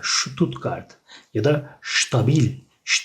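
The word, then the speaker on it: Stuttgart: onu da belirtmiş olalım ST başta olduğu zaman s harfinin şeye şeklinde okunur ştutqart mesela ştutqart ya da şu stabil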